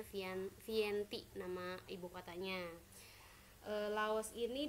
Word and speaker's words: Vientiane: Kalian bacanya Vientiane nama ibu kotanya.